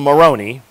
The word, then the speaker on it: Moroni: a time and then the angel moroni rhymes with macaroni so must be italian the angel moroni of course he's not